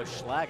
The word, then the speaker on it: Schlag: Oh, Schlag is how you pronounce it.